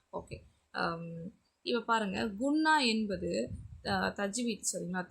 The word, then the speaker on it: தஜ்வீத்: Okay, இப்போ பாருங்கள், குன்னா என்பது தஜ்வீத், சரிங்களா? தாஜ்வீத்துன்னு இருக்குது, சாரி, தஜ்வீத், சரிங்களா? தாஜ்வீத் இல்லை, தஜ்வீத் என்ன அப்படின்னா விதிகளில் ஒரு முக்கிய அம்சமாகும்.